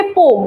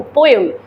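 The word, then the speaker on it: poem: यहाँ के लिए आई हैव टू से पोम, पोएम, पोम हम दिमाग में रखें कि यही उसका प्रोनाउंसिएशन है। अब हम अगर किसी से बात करें जो मेरे पोम को समझे, तब हम उनको पोम बोलेंगे, नहीं तो सबके लिए वो पोएम ही है कि नहीं?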